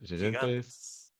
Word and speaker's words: Gigantes: Gigantes. Gigantes. Gigantes. That's right. It's a H.